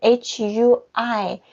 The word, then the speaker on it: hui: very important here okay when you say h-u-i the pronunciation is actually h u e i it's important be careful